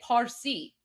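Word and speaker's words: پارسی: We we literally say Parsi like P.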